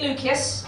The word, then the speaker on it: Lucius: It is a hard C in Lucius, because it's from ancient Latin.